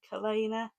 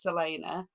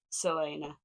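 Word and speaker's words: Celaena: pages left of Throne of FL I love Selena as a character I have realized that I've been saying her name wrong the whole time I think I've been saying Kena and after a bit of research online I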